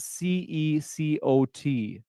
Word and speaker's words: CECOT: What is, so CCOT, it's spelled C-E-C-O-T.